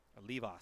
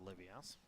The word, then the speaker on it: Levas: at first base close levas sorry not olivia's pronouncing the name wrong because i'm not reading